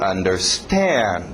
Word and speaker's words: understand: Cuidado com o ritmo. To understand. To understand. Batendo no final.